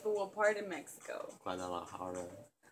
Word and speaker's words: Guadalajara: Guadalajara. It's Guadalajara. You gotta say it like a Mexican.